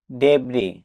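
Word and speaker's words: debris: ডিইবি আর আই এস ডেব্রি অর্থ ধ্বংসাবশেষ। এখানেও লেটার ডি সাইলেন্ট থাকবে এ double P আর এ আই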